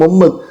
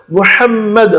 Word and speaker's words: முஹம்மது: ரொம்ப பேரு தமிழ்ல சொல்லும்போது ஈசா ஈசா அதேபோல ரசூலல்லாஹ்வுடைய பேர சொல்லும்போது முகம்மது முஹம்மது ரசூலுல்லாஹ் ஸல்லல்லாஹு அலைஹி வஸல்லம். நபிமார்களுடைய பேரை குர்ஆன்ல அரபில எப்படி சொல்லப்பட்டிருக்கோ அதே போல உச்சரிக்கணும். நீங்க தமிழ்ல சொல்றேன்னு சொல்லிட்டு இஷ்டத்துக்கு சொல்லக்கூடாது விஷயத்துக்கு வாங்க.